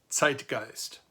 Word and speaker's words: Zeitgeist: plosive, like a Z, like a TS sound if you put T and S together and you add a little puff of air, so it's a plosive sound.